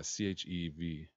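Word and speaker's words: chèvre: How to pronounce Chevre. Yeah, Chevre. Is it? Are we there? Share.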